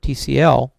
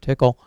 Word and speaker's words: Tcl: layer to get stuff in and out of TCL or tickle um in order to get stuff in and